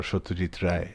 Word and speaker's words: Satyajit Ray: It's none other than India's greatest filmmaker, Satyajit Ray, or Satyajit Ray, as we Bengalis would like to pronounce his name.